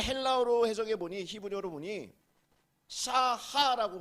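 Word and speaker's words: שָׁחָה: 근데 이것을 헬라어로 해석해 보니, 히브리어로 보니 샤하라고 발음합니다.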